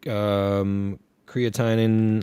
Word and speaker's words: creatinine: Do you say creatinine? Is that, am I pronouncing?